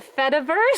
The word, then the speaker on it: Fediverse: The Fediverse. Spell it. It's Feta cheese.